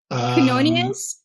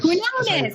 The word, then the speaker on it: Quinones: Quinonius? Is it? let me see. I gotta see it here. I gotta see last name. It looks like Quinonius, but Quinones.